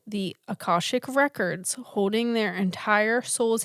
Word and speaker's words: Akashic: Some people say Akashic Records. I tried to like look up pronunciation because you know I'm bad at this. Right. And what I found is Akashic Records.